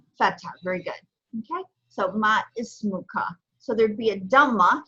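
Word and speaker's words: ما اسمكَ: So ma ismuka. So there'd be a dhamma here over the meme to pronounce it absolutely voweled.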